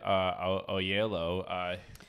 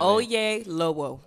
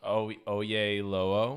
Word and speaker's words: Oyelowo: So, you know, David Oyelowo. Nope. How do you say it? Oyelowo. Oyelowo.